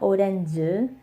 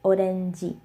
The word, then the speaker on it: 오렌지: 오렌지. And this is similar to page because this ends with a J sound. They say G, not J. So it's not orange, it's 오렌지.